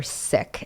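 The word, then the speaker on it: Sikh: s i k and we are uh reclaiming the correct pronunciation so it's sick not seek thank you and I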